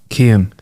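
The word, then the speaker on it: Cian: short one it's pron it's spelled c i a n I think I might know this one is it Ken it is come on what two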